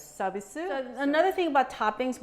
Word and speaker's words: 서비스: And in Korean, we call them 서비스, which is an English word for service. but in Korean we phonetically pronounce it as sabisu.